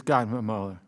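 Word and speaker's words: Gottemoeller: Gottmuller, am I butchering your name? If I am, please correct me. No? Okay. No, sir, just perfect. I've been called a lot of things, but you're pronouncing my name right.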